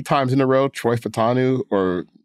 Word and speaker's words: Fautanu: in a row, Troy Fautanu, or did I pronounce his name right? It's apparently it's Fautanu.